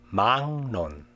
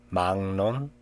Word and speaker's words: 막론: 막론, 막론.